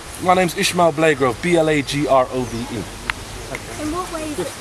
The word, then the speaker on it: Blagrove: Say your name first and spell it, so they've got your name. My name's Ishmahil Blagrove, B-L-A-G-R-O-V-E.